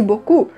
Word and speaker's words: beaucoup: Normalmente a gente diria merci beaucoup. Certo? Tem muito segredo para brasileiro, não tem muito som diferente ali não.